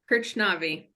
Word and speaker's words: Krchnavi: we have a guest we're joined by kirchnavi from Siemens all right do you want to introduce yourself sure I mean also perfect pronunciation there so congratulations yeah krishnavi I'm heading sales name enablement within grid software